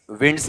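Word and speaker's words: winds: वाला ये ध्यान रखना इसका जो उच्चारण है ये बताओ क्या रहेगा विंड्स रहेगा ठीक है अगर ये वर्ब में होता तो विंड होता या वाइंड होता वाइंड होता यहां नाउन में है ये आपका ठीक है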